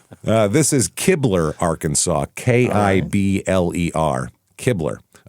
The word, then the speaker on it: Kibler: K I B L E R. Kibler. Uh That's Kibler? That's Kaybler. It's Kibler.